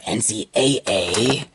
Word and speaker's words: NCAA: Four one for basketball or NCAA however you Brown said it's there I prefer pronouncing it NC double-a then here's NBA showdown